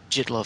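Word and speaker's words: Jittlov: I hope I pronounced his name right. Jitlov. Jitlov, thank you.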